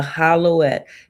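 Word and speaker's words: howlite: The hollowette is spelled W I mean H O W L I T E. Hollowette.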